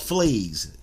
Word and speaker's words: Fleeze: It's called Fleeze. You know, it's not spelled like the fleas on the dog, but Fleeze, F-L-E-E-Z-E.